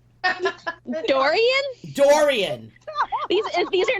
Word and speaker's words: Dorian: couple stories that I was saving so hurricane Dorinda well how do you say her name Dorian Dorian these are not they're not retaining the